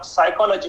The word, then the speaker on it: psychology: पढ़ाया गया है कि यह शब्द आप साइकोलॉजी पढ़िए, जबकि हमें यह बता दिया गया है कि इसका स्पेलिंग क्या लिखना है, PSYCHOLOGY, और पी को साइलेंट रखना है। उस पी को साइलेंट क्यों रखना है? तो हमें ये बता दिया कि ये साइलेंट शब्द है, इसका उच्चारण नहीं करना है।